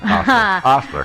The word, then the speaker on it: Ostler: Not Ulster. Ostler. I like Ulster better, but you're right. It's Ostler.